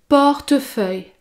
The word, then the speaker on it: portefeuille: portefeuille pour les contenir pour prononcer le mot portefeuille vous devait prononcer la lettre e au milieu porte porte feuille portefeuille car sinon il est impossible de prononcer ce mot car il y a trois consonnes qui se suivre et pour prononcer le